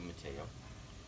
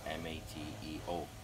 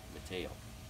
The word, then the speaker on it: Matteo: we walk in and doctor pronounces your name as Matt so I looked at your mother and said we've got a drop 1t and he's gonna be ma te o Matteo not with a TT okay so how did